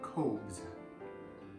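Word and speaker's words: khobz: make a moroccan flatbread called the coves i think i'd say pronounce it k-h-o-b-z and so this is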